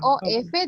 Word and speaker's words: of: Esta OF, this OF, the pronunciation is like this in English. Take a look at this. Of. With V.